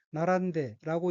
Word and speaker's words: 並んで: 셋째 줄 왼쪽에 어휘는 한자가 나란할 병자가 들어있고 일본어로는 나란데라고 읽으며 나란데는 줄을 서다, 늘어서다 라는 뜻의 자동사 나라부의 태형으로 나란데는 줄을 서서, 늘어서서 란 의미입니다.